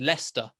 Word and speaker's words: Leicester: a quick one the the name is i know it's spelled les les is said leicester two syllables west register i would